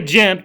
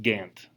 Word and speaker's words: Ghent: treaty of we say gent because we're hillbilly southern west virginians but this place is actually in belgium and it's ghent ghent our gent is named after that belgium but it's actually pronounced gant so sorry i say